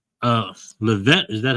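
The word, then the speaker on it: Leavitt: Uh, Levette, is that how you pronounce it? Levit.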